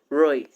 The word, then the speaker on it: Ruy: The Ruy Lopez, I don't know how most people pronounce it, but I personally pronounce it Ruy, R U Y, Ruy Lopez.